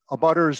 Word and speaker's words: abutter: But abutters, that's a standard jargon in the planning world, and I just don't like it because it's not true. I like to say abutter rhymes with gutter, and living next to